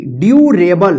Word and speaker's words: durable: DURABLE ड्यूरेबल, क्या पढ़ेंगे, ड्यूरेबल। देखिए यहाँ पे DU का डी उच्चारण हुआ ना और यहाँ पे शियो, शियो यू उच्चारण हो रहा है ना।